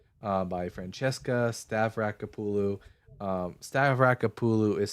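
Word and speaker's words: Stavrakopoulou: Uh, King Manasse and Child Sacrifice, Biblical Distortions of Historical Realities, uh, by Francesca Stavraulu. Um, Stavraulu is spelled S T A V R A K O P O U L O U.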